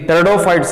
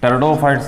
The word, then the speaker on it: Pteridophytes: Pteridophyte ಅನ್ನಬಾರದು, P is silent here.